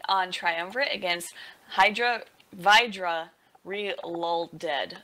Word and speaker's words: Relolded: trium against Hydra VRA reled according to the way it's spelled even though people say reloaded uh so triumphant has